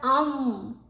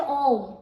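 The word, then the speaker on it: ओम्: this two three alphabet a and u together makes o so don't try to pronounce um it's not um it's still om right but you are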